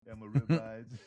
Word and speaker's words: Almoravids: like the Almor- Almorids Almor- how you say it? Yeah, I know I had a hard time saying it too, man. Almorid- Almoravids? Almoravids? Yeah, you got it.